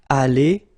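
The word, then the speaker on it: allés: change at all okay here you've got Ali Ali even if you've got the final you don't pronounce it Ali even if you've got the S Ali even if you've got this a s okay so doesn't change but if you want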